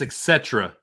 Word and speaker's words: et cetera: how do you pronounce et cetera et cetera et cetera et cetera not at satira i say etc etc not etc there's no k in it i say etc they'll